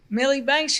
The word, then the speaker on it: Milli Banks: Milli Banks, you said it right.